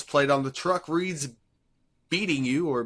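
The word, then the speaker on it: BEATNGU: Uh the license plate on the truck reads beating you or b e a n b e a t n g u. Uh Darry pronounces it as beating you, but later I think we come to the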